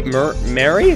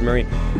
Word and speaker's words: Marie: ping today is Mary Mary yeah it's just Marie Mary Marie I keep saying it wrong Mary Wilson I since